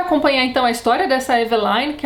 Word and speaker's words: Eveline: Eu disse Eveline, mas na verdade é Eveline.